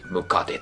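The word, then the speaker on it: 百足: そこから来てるやつ。100 足と書いて、ムカデと読むので、ム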